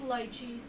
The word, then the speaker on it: lychee: No, it is lychee. I just listened to the pronunciation of it.